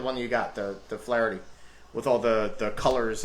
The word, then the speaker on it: Flaherty: good um we've got pitcher here uh jack flarey uh flaherty flaherty that's how you pronounce it jack flaherty uh st louis cardinals